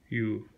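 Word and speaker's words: 言う: Iu, söylemek. Yu diye okunuyor.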